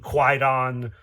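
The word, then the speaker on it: Kwaidan: I think that's how you pronounce it. I've heard people pronounce it Kaid Eden. I've heard people pronounce it Quaidon. I I'm going to go with Kaid Eden, I think.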